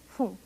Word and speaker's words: 分: Em Hatiji Jilgofumai, vocês não ouviram pum, mas sim fum. Depois de alguns números, a pronúncia correta para a palavra minuto é fum.